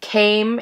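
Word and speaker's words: 亀: The first symbol he wears is pronounced Kame and means turtle.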